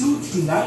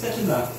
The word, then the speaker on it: Setina: It's not pronounced Sutina, it's Setina.